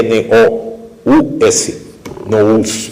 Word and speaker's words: nous: Em grego se escreve N-O-U-S, nous, que é a palavra mente.